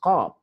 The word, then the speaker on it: qaf: can hear very clearly, they don't pronounce qaf. Qaf, the Arabs in Yemen got problem, they cannot pronounce qaf. They will say gul.